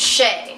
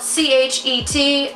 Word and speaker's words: Chet: My name's Shay. It's spelled C-H-E-T, but it's not Chet, so don't call me that.